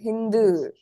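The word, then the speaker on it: ヒンドゥー: sound what you want so how do you read this word the word actually ends here hi K du Hindu right do and a small gives you du Hindu elongation so Hindu you see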